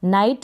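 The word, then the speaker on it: night: मैंने मेंशन किया है आई जी एच को आप आई प्रोनाउंस करेंगे जैसे एन को न आई और टी का ट नाइट बन गया मतलब कि रात तो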